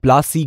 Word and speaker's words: Plassey: did you know how plasie got its name lassie is an anglicized pronunciation of palashi and the place derived